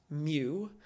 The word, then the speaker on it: mu: right here is mu it looks like a u but it's actually a Greek symbol pronounced mu and this is what